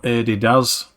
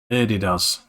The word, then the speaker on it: Adidas: So, Adi Daz. So there you go, you've been pronouncing the name of the company wrong all these years. It's Adidas.